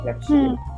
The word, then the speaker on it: Crépuscule: Ini keren sih, Crépuscule ya, dibacanya Crépuscule.